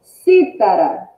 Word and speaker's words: cítara: Ó, cítara, cítara, cítara. Qual a sílaba mais forte? É o si, si.